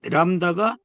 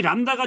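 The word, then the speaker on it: λ: 요, 이 람다가 중요한 게 아니라 이런 글씨가 왔을 때 발음을 리을로 한다는 걸 중요하게 여기고 기억하시면 돼요.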